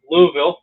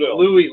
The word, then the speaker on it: Louisville: Louisville. Well, I was saying Louisville. Louis. Well, with the I, but now I'm saying with the I silent.